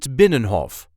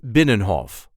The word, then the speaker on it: Binnenhof: way we say had binnenhof benhoff so there isn't really any emphasis here try to pronounce it without it benhoff and a lot of Dutch people do not pronounce the third n so it will sound